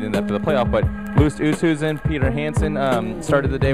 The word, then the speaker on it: Oosthuizen: Oosthaven. Oosthuizen. Yeah, it's tricky. I think Jim Nance was pronouncing it wrong the whole time.